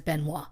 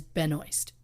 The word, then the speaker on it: Benoist: Melissa Benoist now look the Canadian in me wants to say her last name as benois yeah but I went and watched YouTube videos of her saying her name so I could pronounce it the way she wants it pronounced and she says Benoist and I was telling